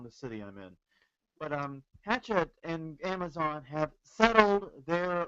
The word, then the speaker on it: Hachette: I've heard it pronounced both ways. I prefer Hachette personally, just because it sounds like burying the hatchet. But Well, it's a French company, so it's probably Hachette or I something. know it's probably something, but then again, this is New Orleans.